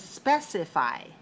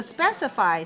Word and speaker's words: specify: the same family is specify so specify specify has three syllables but it doesn't have the same syllable stress code can you hear the